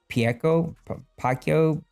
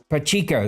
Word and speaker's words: Pacheco: I like Pacquiao, Isaiah, the guy from Kansas City. Pacheco, that's it. I knew I was saying it wrong.